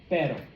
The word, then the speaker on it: pero: Well, because that double T, okay, your tongue is literally touching the top of your mouth, the tip is, and then it's sitting back down. It is making the exact same motion that you should be making with this, okay?